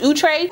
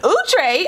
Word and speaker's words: Outre: outre melted hairline series did y'all know their name is pronounced ootray what like i found that out a couple months ago and i was like what ooh tray i never heard that so utrecht outre